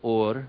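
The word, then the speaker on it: אור: is also the word or but it's spelled with an Aleph it's with a different letter Allah fresh and they sound identical or and or they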